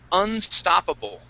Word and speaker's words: unstoppable: All right, now, this word here is unstoppable. Unstoppable. Unstoppable. Good. Yeah, so that accent is going to go right on that O.